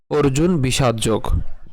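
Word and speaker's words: অর্জুন বিষাদ যোগ: অর্জুন বিষাদযোগ। আমরা যদি এটিকে যদি সংস্কৃত উচ্চারণ করি তাহলে এর উচ্চারণ কেমন হবে? এর উচ্চারণ হবে অর্জুন বিষাদ য়োগা। আমি আবার বলছি অর্জুন বিষাদ োগগা।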